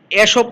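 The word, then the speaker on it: Aesop: ওয়ান অফ দ্য এসবস বা কেউ এখানে দেখো এসব আছে, কেউ এসব বলে, কেউ ইসব বলে, অসুবিধা নেই। এটা দুই রকমই বা দুই উচ্চারণই করা যায়। আমি ইসব উচ্চারণ করছি।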